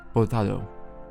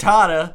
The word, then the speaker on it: Hurtado: Just say it like an American. It's okay. Hurtado in the 88th minute Hurtado closed the deal on that one with the score. He is American. It's actually Hurtado. Hurtado.